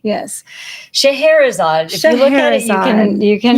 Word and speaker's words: Scheherazade: And tonight's goddess, her name is Shahara. And that is spelled not like it sounds, but kind of like it sounds. S C H E H E R A Z A D E. Yes. Shahara.